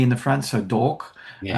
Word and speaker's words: D'Orc: d apostrophe or it's obviously supposed to be dork, right? That's the play on words and it and they they I think they're even mispronouncing the word orc and it's like d orc or something like that and I'm going dork.